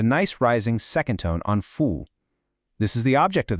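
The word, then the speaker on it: 服: And the last piece of our core vocabulary puzzle is fu, pronounced fu.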